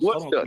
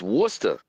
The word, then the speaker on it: Worcester: It's Worcester. Yes, sir. Like the sauce.